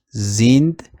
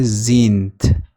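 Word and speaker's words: sind: ما آمده ایم ویا زیند گومن این زیند هم حالت زین تلفظ میشه هم حالت زینت یعنی این صدای د تبدیل به صدای ت میشه اگر خواسته باشیم بگیم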